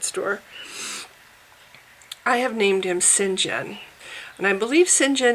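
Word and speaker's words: St John: and I believe Sinjin is spelled Saint John S T and then the name John but I don't want to call it I don't want to spell his name that way because everyone's gonna mispronounce his name and call him Saint John so I'm spelling it s-y-n-j-e-n Sinjin because I think that's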